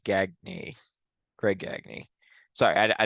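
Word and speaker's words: Gagne: teams sorry is it is that not how you say his name I think it might be I think it's actually gagy Greg gagy sorry I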